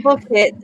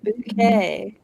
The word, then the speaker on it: Bucket: It isn't pronounced bucket. It is pronounced bouquet.